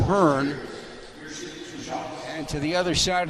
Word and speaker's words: Byrne: averages 16 points again when he pronounces it burn and to the other